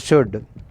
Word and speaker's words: should: In these letters L is silent, would and should.